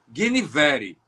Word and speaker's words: Guinevere: O meu poema chama-se Epitáfio para Guinevere, que eu sigo a pronúncia do meu vaqueiro, que já foi embora também para a imensidão, Damião, Guinevere.